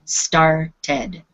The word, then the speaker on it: started: and as you notice here's a t on the end of this word so it becomes a two syllable word started started good Sergio one